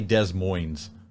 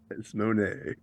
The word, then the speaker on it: Des Moines: because it's De Moine people say Des Moines desmon desmon that's that's a new one for me that's that's the fancy